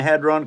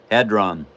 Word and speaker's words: Hadron: And I think it's Hadron, but I don't know how it's pronounced exactly. Hadron.